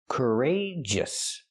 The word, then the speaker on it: courageous: like burger, cur, courage, then use the long A like pay and say, courage, courageous, and then the close sound, the us, us. Courageous. We see the stress on the second syllable, rage.